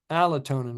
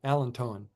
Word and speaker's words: allantoin: Adrenaline, alanine, albumin, allotonin, which is also found in what plant? What 2 plants has allotonin in it? How do you pronounce it? Allantoin.